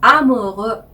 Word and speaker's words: amoureux: 네, 불어로는 ou라고 발음을 하는데요. 이 ou도 우라고 한 모음으로 발음이 나요. 우 이렇게 항상 발음을 해요. 그래서 amoureux 이렇게 발음을 하시는 거죠.